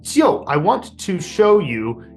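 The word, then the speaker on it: 尤: that building now the right side component is pronounced yo and it means excellent or outstanding so I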